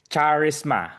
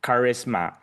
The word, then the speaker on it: charisma: The third one is the word charisma. I heard someone say it charisma. So yeah, you don't need to pronounce the C. So it's in English we say it charisma.